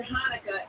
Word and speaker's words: Hanukkah: Like the CH in Hanukkah is sounded out to ha.